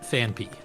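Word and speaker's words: Phanpy: Uh because I assumed that it was ph a n p h y, but there's no second ph. It's p y. So it's fan p.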